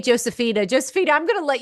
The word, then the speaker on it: Josefina: Okay, in Argentina my name is pronounced Josephina like in Spanish.